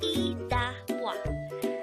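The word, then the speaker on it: 이따 봐: Idabwa could be divided into 3 syllables. Idabwa.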